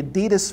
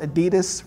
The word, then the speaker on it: Adidas: guy's name was adi his first name was addy and his last name was dassler so it was adi das and he visited the